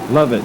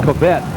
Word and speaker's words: Lovett: I believe they're crediting, and I believe it's Lovett. Lovett is the quarterback. We've been pronouncing it as Covette.